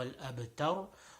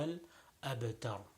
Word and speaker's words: الأبتر: كالكوثر فصل لربك وانحر إن شانئك هو الأبتر. So in all of them, the ra at the end is going to be pronounced with a full mouth. So again, كوثر فصل لربك وانحر إن شانئك هو الأبتر.